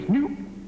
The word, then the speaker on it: Knoop: Because the answer is Knoop. That's actually the man's name, Warner Knoop. It's spelled K-N-O-O-P.